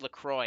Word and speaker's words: LaCroix: I figured out how to pronounce LaCroix. It's actually Lacroix. Because it's French.